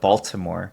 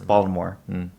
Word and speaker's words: Baltimore: You don't pronounce that T. It's not like Baltimore. It's Baltimore.